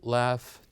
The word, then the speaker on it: laugh: And here we have the word enough, laugh, tough that ends with GH, they pronounced as the F sound.